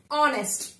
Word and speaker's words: honest: Honest. Why honest? Because here H is silent in all these words.